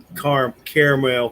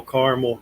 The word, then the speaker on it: caramel: it oh it's not caramel caramel however whatever part of the united states you're from how it's pronounced but yeah it's got